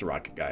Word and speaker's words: I2ocketGuy: Technically it's an I, but no, it's pronounced Rocket Guy, if you will.